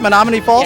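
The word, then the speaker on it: Menomonee Falls: Menominee Falls?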